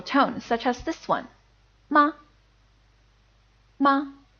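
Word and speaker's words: 妈妈: syllable ended like this mama in the case of mother it's mama it's first tone then neutral tone mama see the difference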